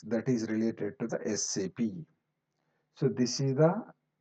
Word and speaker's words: SAP: the independent similarly okay we have to call it as SAP independent letters okay don't call it as SAP now onwards so always we say